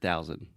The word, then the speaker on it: thousand: hundred thousand yeah uh really try to exaggerate the th I was hearing just say traditional T sound so you're saying 100 000 but it should be thousands one hundred thousand perfect do you understand enrolled